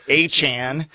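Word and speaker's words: Etienne: Travis ATN changes his name pronunciation goes to the Saints and now it's Achan.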